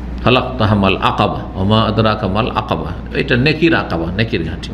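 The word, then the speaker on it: عقبة: এটাকে অনেকে কিন্তু ভুল উচ্চারণ করে, আমাদের দেশের লোকেরা, শুধু লোকেরা না, অনেক মাদ্রাসা পড়ুয়ারাও ভুল উচ্চারণ করে, কারণ ওস্তাদ থেকে ভুল শিখেছে তো কী করবে। জামারায়ে উকবা বলে, আকাবাকে কি বলে? উকবা বলে অনেক।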